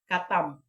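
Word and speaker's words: ketam: no katam ang kalam pero ang kung isulat ni mo is k e t a m no katam Ano okay maa siya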